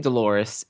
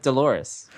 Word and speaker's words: Dolores: And when you hear the name Dolores, it clearly rhymes with Clitoris as as you know, is its rhyming counterpart.